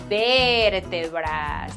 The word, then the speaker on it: vértebras: Vertebras. And you have to pronounce it really elongating, that ver part.